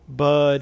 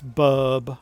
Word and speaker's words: Bub: I said Bud, it's Bub.